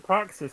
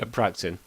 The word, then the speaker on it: Praxin: I love that he calls him Praxis when his name isn't it Praxis? Praxin. Yeah. It's called his name wrong the entire time.